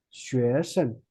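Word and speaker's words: 学生: If you pronounce like a 学生 it's a first tone, so you have to pronounce like a gently, like lower down your voice.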